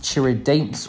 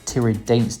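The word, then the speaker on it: Tiradentes: The second city in the list is going to be Churidanes, or Churidanes, depending on your Portuguese pronunciation.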